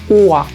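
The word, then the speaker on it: Uhr: Es muy sutil el sonido de la R porque le precede una vocal, así que mucha atención. Hay que buscar que cuando se pronuncie la palabra, después de la vocal, busquemos que el músculo que articula la R busque articular la R, pero no es necesario marcarla como en las palabras anteriores.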